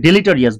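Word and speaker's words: deleterious: ইজ not only ডেলিটারিয়াস এই যে আমরা ডিলিট just Riya's R আই ও ইউএস মানে উচ্চারণটা হবে ডেলিটারিয়াস বিপদজনক বাট অলসো অবনোক্সাস ডেলিটারিয়াস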